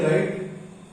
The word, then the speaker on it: rho: तो right side में यहां पर जो कांस्टेंट आ रहा है, ये ग्रीक अल्फाबेट का लेटर है, जिसको प्रोनाउंस करते हैं रो, RHO, रो।